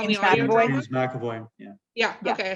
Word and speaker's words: James McAvoy: James McAvoy.